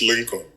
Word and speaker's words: Lincoln: over the years a lot of people have mispronounced the name I've been called Inc Vin so I said bro it's Lincoln all right so what was growing up like